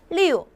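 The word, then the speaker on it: 六: 때는 약간 외부를 타듯이 우우 하시면 되세요 자은 발음이 어떻게 될까요 리우 근데 손동작이 약간 두 개랑 비슷하다는 거죠 조금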